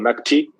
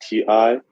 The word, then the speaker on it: Magti: And the SIM card provider, I'll definitely, it's called, see I'm pronouncing it right to make sure. Yeah, it's called Magti, Magti.